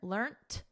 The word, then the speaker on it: learnt: So learnt is the preferred spelling and pronunciation in British English. In American English, which I teach, the preferred spelling and pronunciation is learned. So notice we have a soft T here, learnt.